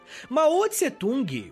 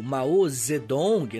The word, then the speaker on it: Mao Zedong: família tinha boas condições maot tsetung ou Mao zedong né a pronúncia orig não é mais parecida com isso nasceu no dia 26